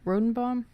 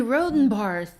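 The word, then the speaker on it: Rhodenbarr: Okay, so basically let's wrap Bernie Rodenbaum. Bernie Rodenbar, thank you. Yeah, I knew there it you was go. 3 syllables and I could not get there.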